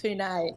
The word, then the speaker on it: Pune: very name who name everyone you've got to pronounce it Pune oh that's it it's uh three hour Pune it's a town about three hours north of